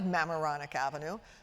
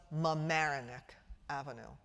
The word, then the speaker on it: Mamaroneck: Well, in fact, we couldn't find Mamaroneck Avenue because I had placed the accent on the wrong syllable. And indeed, it was Mamaroneck Avenue.